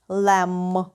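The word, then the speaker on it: lamb: завжди вимовляється як м у слові ягня або баранина Лем пишемо L La MB але вимовляємо тільки м Лем наступне дієслово follower перекинутися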